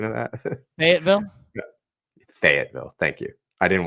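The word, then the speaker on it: Fayetteville: What's the pronunciation of that? Fatville.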